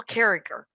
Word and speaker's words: Carriger: Her name is Gail Carriger, and it's Gail Carriger, and it's spelled Gail Carriger, but she goes with a hard G on the second G.